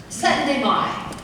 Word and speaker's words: Syttende: So, Syttende.